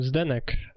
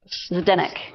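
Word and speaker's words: Zdeněk: I want to say his name is Zidenek, but I don't know how to pronounce it. Oh, Zenk. Zadeenk. Okay, now I know how to pronounce it. Zadeenk.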